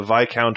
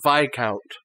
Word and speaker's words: viscount: i i'm the the vi count of cashews i always forget that it's pronounced vi count i like that word